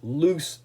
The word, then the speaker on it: loose: What the Braves can't do is loose the game, because loose is an adjective that describes. Loose rhymes with goose and moose, and in this case